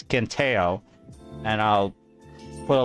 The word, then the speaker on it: Quintheo: I have this video from this username on YouTube, spelled Quintheo. I'll pronounce him as Quinteo, and I'll put a like on this just because I hate Pirate Software's guts.